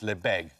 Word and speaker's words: Lebesgue: Yes, that's how it's spelled. It's normally pronounced Lebesgue.